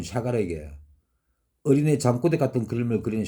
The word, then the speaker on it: 샤갈: 수많은 비난이 쇄도를 합니다 샤갈은 러시아 사람이었습니다 세겔이죠 누군가가 도와줍니다 그래서 프랑스에서 그림을 그려주고 안착할 수 있었죠 그런 프랑스 고마워서 샤갈은 자기 이름을 프랑스의 발음인 샤갈로 바꾼 겁니다 샤갈 일년 7개월 동안 그랬습니다